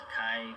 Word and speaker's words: Akai: It's pronounced Akai for mini.